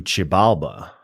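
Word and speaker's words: Xibalba: There is a portal within Sleepy Hollows and maybe bit of a spoiler alert that leads to Chibala, the Mayan underworld.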